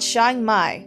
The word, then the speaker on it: Chiang Mai: thank you okay it's called Chiang Mai that's how you say it that's how you